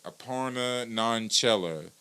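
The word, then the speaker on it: Aparna Nanchherla: Aparna Nanchella.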